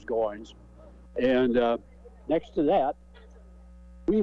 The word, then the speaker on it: Goins: Everybody called him Goins. It's spelled G-O-I-N-S, I see. but his name was Goins.